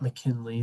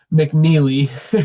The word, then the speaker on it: McNeely: Um, Isaac McNeely is how you pronounce his name. Not McKinley. That wasn't even close. McNeely.